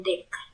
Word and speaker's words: deque: Selanjutnya double ended QW eh de ku de dibacanya itu de de dibacanya deck deck deck atau double endedwe adalah